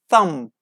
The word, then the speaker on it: thumb: be as you say if you see divert finish with M and B combination at the end of the word we don't pronounce be okay climb that's it thumb that's it come all